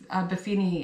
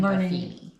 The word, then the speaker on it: Buffini: I'm part of um Befini and Company, our uh Remax Elite. We are a part of Brian Buffini. Who did I say? Befini is Brian. Yeah, it's Brian Buffini.